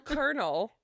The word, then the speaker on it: colonel: the more you know flabbergasted me no little kernel okay it was really eerie and it had